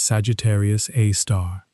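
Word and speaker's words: Sagittarius A*: It has a name Sagittarius Aar often written as Sagittarius A with an asterisk pronounced simply as Sagittarius A star.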